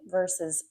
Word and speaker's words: versus: Now, um, today we're going to look at by versus until, during versus while, since versus from versus for. Notice my pronunciation of versus the S.